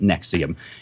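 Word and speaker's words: NXIVM: the alleged sex cult nexium in XIV M pronounced nexium in addition to the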